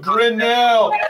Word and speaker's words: Grinnell: It's pronounced the same way as a piano store that used to be on Woodward Ave in Detroit, and the fire sprinkler company, and the bird expert who died in 1939.